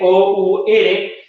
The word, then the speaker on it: our: Se utiliza el adjetivo posesivo our, que se escribe O-U-R, pero para fines prácticos lo vamos a escribir como una A, W-E-I-R, our, ¿ya? Esa W pronunciarlo como si fuese de water, hour, agua, ¿ya?